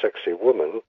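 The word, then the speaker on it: Sacsayhuamán: matchu picu yeah and what is known in English as sexy woman uh which is the colloquial pronunciation for the enormous walls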